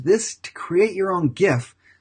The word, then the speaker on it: GIF: You can even use this to create your own GIF, GIF, G-I-F, it's actually pronounced GIF.